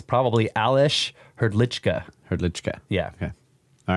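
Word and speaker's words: Hrdlička: Hrdlicka. Yeah. Okay. All right. But it does look like Hrdlicka. He just says that you probably pronounce that with a CH in there.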